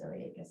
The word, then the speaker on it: iliacus: So it's pronounced iliacus, I don't know.